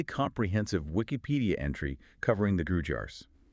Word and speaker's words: Gurjar: Wikipedia entry covering the Gurjars. Sometimes pronounced Gurjars, depending on where you are. Yeah, both are used.